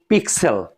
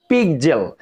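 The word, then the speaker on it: pixel: এখানে দেখেন পিকজেল, আমরা অনেকে এটাকে বলি পিক্সেল, আসলে এটা কিন্তু পিক্সেল না, এটা হচ্ছে পিকজেল।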